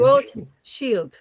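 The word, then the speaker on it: Rothschild: Ro shield. I have it written down to you. Ro shield.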